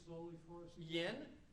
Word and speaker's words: Yen: Yen, just like Japanese money.